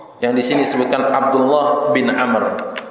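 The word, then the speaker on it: عمرو: Umar berarti Ibnu Umar tapi kalau Abdullah bin Amr adalah Abdullah bin Amr Bin Hafiz Hai kabel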